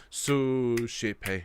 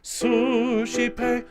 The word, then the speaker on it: suscipe: Suscipe, suscipe, deprecationem, deprecationem nostrum. Okay, so before we sing it, just note that in the first 2 bars, the suscipe, the su is the important syllable.